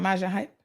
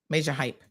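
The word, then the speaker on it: Majah Hype: Someone said it's pronounced major without the R. Oh, his name is what? Hold on now. Maja. It's not Maja Hype. Major without the R at the end to reflect the Caribbean accent pronunciation.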